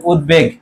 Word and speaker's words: উদ্বেগ: কি থাকবে বহাল থাকবে তাহলে এর উচ্চারণটা কি হবে বলতো উদ তারপর কি হবে বেগ হবে উদ্বেগ তারপর দেখো সভ্য আছে